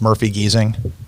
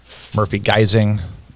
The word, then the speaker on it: Murphy Giesing: names and uh so nobody can really pronounce my last name very well I told you in the green room right it's Murphy geesing but I get Murphy geing or jerk off face